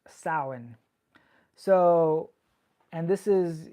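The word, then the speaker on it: Samhain: is even more ancient it's this festival called sa now it's a Celtic Festival and it's actually spelled s m h a i n but it's pronounced sa so so and this is you know it's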